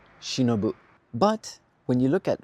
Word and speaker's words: 忍: Alone, it's pronounced shinobu.